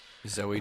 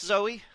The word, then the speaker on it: Zooey: Zooey Deschanel. Yeah, is it just Zoe? I'm pretty sure.